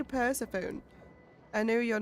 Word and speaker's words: Persephone: Wait, Persephone? That's how you say it. I always say Persephone.